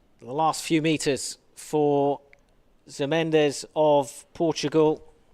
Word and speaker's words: Mendes: The last few meters for Mendes of Portugal. Jose Mendes, or Minge, is how they pronounce it. He's given me a lesson in that.